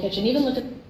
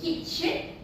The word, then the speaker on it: kitchen: yes so okay uh in in uh British they uh stress on the kit CH the kit uh part but uh in America the second syllable which is the CH so for British is kitchen and American is Kitchen so uh that's the difference of stress between these two accents so now I'll go